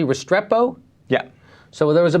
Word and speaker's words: Restrepo: So, okay, let's go to, so now there's a movie called, am I pronouncing it correctly, Restrepo?